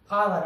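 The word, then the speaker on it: hour: आवर, आवर means घंटा, ऑनर सम्मान, honest ईमानदार। अब हमने ये जान लिया कि कहीं कहीं पर एच के बाद अगर ओ आता है तो एच साइलेंट होता है, कहीं कहीं पर, हर जगह नहीं।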